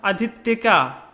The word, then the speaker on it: अधित्यका: ध्यान से पढ़िएगा उच्चारण, अधित्यका, ठीक।